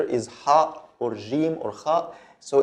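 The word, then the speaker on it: ه: This is ha, like the H sound in English, ha, ha.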